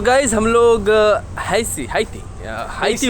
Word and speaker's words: Haiti: हम लोग हैसी हाती हाती बो हेशियन हेशियन बोलते हैं ये लोग एक्चुअली बट लिखाता है एच ए आई टी आई हाती प्रोनाउंस होना चाहिए प्र बट ये लोग बोलते हैं हेशियन ठीक है हम